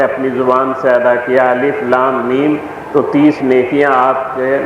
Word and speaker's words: الم: آپ اسے پڑھیں گے الف لام میم۔ اس کا تلفظ جدا گانا ہے، یہ ملا کے نہیں بلکہ الگ الگ کر کے حروف ادا کیے جائیں گے۔ کاف ہا صاد، الف